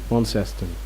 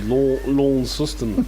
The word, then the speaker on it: Launceston: So it is Launceston, or is it Launceston? Launceston. Right. It's a tricky one for some people. Yeah, you can get It's in trouble. the middle syllable's the Right. key. New Zealanders can't be dealing with it. What do they say? Launceston. It would be lawn system, wouldn't it? Sounds South African.